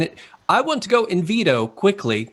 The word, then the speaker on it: Invitto: i want to go in veto quickly which kind of sounds like a d but it's got two t's in it should i pronounce it in veto yes yes okay so